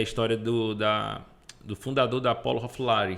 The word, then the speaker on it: Ralph Lauren: Eu estava vendo a história do fundador da Apollo, Ralph Lauren. Não sei nem se pronuncia assim. Ralph Lauren. Né? É assim? É assim mesmo.